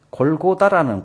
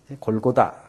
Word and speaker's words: 골고다: 33 해골이라 곳이 골고다 해골의 해 히브리 발 발음이 골고다 예 그쪽 십자가에 달신 언덕 모양이 아마 해골 같아서 골고다 아고 붙였다는 말도 있고 그곳에 사형 집행장이기 때문에 해골이 많이 있기 때문에 해골이라고 즉 히브리 발음으로 아람 발음으로 골고다는 어 해골이라 뜻을 가진 히브리어로 골고 라고 했다는 말도 있습니다 근데 우리가